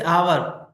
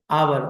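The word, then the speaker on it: hour: जैसे आवर, okay, आवर तो इधर एच।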